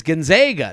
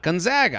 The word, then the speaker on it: Gonzaga: And then they'll go, you know, it's Gonzaga, not Gonzaga.